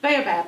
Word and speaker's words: baobab: Baobab.